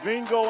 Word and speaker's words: Mingo: You say B-I-N-G-O. I said it's like that. Okay. It rhymes with that.